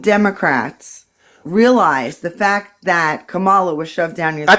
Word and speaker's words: Kamala: shoved down your throat I thought it was Kamala or vice president Harris I mean don't you think it's important for people to put a little respect on their names how you say it comma La they're putting it in the chat and I